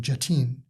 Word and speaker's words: Jatin: I pronounced his name Jatin.